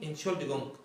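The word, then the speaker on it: Entschuldigung: أول مقطع اللي هو إن ديت ما تنطقش حرف التي، قول إن، إن، تمام؟ إن. المقطع اللي بعديه اس السبب نطقه إيه؟ شل، شل. المقطع اللي بعديه دي، دي، جونج، جونج. إن شل دي جونج، إن شل، إن شل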